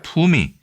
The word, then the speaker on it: 稟: 이렇게 파악할 수 있습니다 실제로 일본에서는 이것을 린이라고 읽기 때문에 예 의라는 표현도 완전히 틀린 도금은 아니다라고 개인적으로 생각을 합니다 그래도 어쨌든 우리나라에서는 품이라고 읽기 때문에 품이라고 생각하시면 되고요 일제의